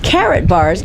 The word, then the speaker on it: Karatbars: with you, Robert Turner of Carrot Bars, and it's spelled Karatbars, and also he is with Shallow.